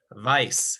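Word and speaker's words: weiß: do it that way vice is white why situation bison vice and that one uh once again sort of sounds like the english word white on the pie so white yes vice so let me just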